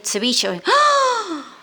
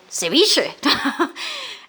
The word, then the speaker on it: ceviche: Oh my god, if you taste a Peruvian ceviche, my god, you like the fish and you're